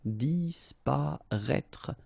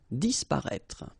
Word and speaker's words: disparaître: So remember that we've got this accent circonflexe on the top of I, but then phonetically we don't pronounce it, so we get disparaître, disparaître.